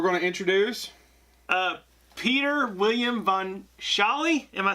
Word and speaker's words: von Sholly: Peter William von Sholly. Am I saying your last name correct? Yeah, von Sholly. It's pronounced the way it looks.